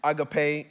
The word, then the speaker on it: agape: Many of us have heard it termed agape. It's agape. It's how it's pronounced.